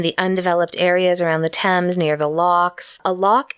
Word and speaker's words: Thames: Thames looks like it should be the Thames th a.m. ES and it's pronounced Thames ok I just remember when I